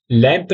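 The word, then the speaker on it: lampe: लम लम ठीक है लैंप नहीं बोलना है लाप नहीं बोलना है लप लप ठीक है अब हम नेक्स्ट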